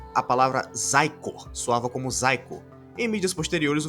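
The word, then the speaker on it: Xicor: pronúncia correta não é chicor pois o x em inglês em alguns casos tem som de z então a palavra zaiko soava como zaiko em mídias posteriores o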